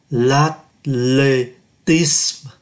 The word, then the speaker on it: l'athlétisme: À, ký tự as không phát âm, như vậy còn lại là l'athlétisme, l'athlé, accent aigu đọc là e, tisme, ơ cuối không đọc, là môn điền kinh.